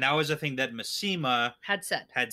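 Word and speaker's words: Masema: It's Massima. Oh, Yeah. what have I been saying? Massima. The pronunciation guy is I think Massima.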